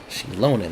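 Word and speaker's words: Xilonen: Shilonan. That's how you say her name.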